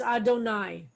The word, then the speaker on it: Adonai: haven't said so far the yudhi vauvey i've told you is the four-letter name of god but traditionally we pronounce it as adonai so there's the word